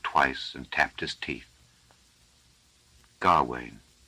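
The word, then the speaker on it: Gawaine: and tapped his teeth God Wayne I suppose he said out loud doubtfully it would have pronounced it kohalen in the North you can't tell with ancient languages then he put down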